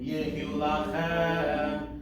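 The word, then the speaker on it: יהיו לכם: Milvad, olat, atamid, umimchatot, ta'asu, temimim, yehu lachem, v'nisehem. So again, just a long compound word here. Yehu lachem, chem is where the accent is, so all the other notes, syllables are just pickup syllables.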